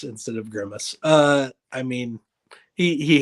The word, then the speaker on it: Grimace: my thing laughs yes Dairy is upset about gurmace instead of Grimace uh I mean he he has some unusual pronunciations of a few things but he's my